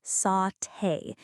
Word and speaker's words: sauté: Another great word, sauté. That's pronounced sauté.